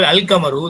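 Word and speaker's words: القمر: Okay, example அல் கமரு, the moon is pronounced அல் கமரு. அல் கமரு எப்படி வாசிக்கப்படுதோ அப்படிதான் எழுதப்படுது.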